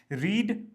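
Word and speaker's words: read: pronunciation जो इसकी रहेगी आप इसको प्रोनाउंस करेंगे आर इ डी रेड colour की तरह राइट रेड रेड रेड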